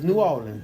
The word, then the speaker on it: New Orleans: how you pronounce it what norleans New Orleans no norleans norleans New Orleans it's New Orleans New Orlean just give